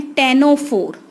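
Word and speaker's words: Ctenophora: Next phylum हम करते हैं टेनोफोर। क्या बोलेंगे हम इसको, टेनोफोरा, सी is silent hair.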